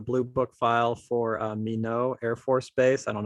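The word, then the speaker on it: Minot: blue uh the blue book file for uh mino air force base i don't know how the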